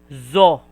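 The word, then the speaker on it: ぞ: And also this one, it is so, but if you put 1010, it will pronounce as zo, za, ji, zu, ze, zo.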